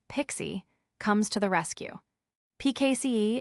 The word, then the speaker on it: PKCE: This is where PKCE, pronounced Pixie, comes to the rescue.